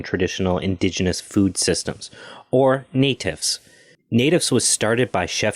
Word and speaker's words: NATIFS: traditional indigenous food systems or i believe it's pronounced natives if you're using the acronym yes yes we use the acronym natives yeah sure i'm happy to tell you a